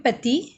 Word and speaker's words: petit: ठीक है, मैं इसको मैस्कुलिन में प्रोनाउंस कर रही हूँ पेती, एंड फेमिनिन में पेतीत.